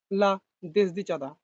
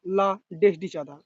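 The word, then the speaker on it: La Desdichada: লা দেসদিচাদা বা লা ডেসডিচাদা। এটা যেহেতু ইংরেজি উচ্চারণ দুটোই হতে পারে।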